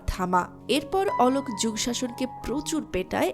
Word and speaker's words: থামা: তো এই ছিল থামা মুভির গল্প। শেষে একটা কথা বলে নেওয়া ভালো যে অনেকেই এই মুভিটার নামকে থাম্মা বলবেন, কিন্তু এটার রাইট প্রোনাউন্সিয়েশন হলো থামা।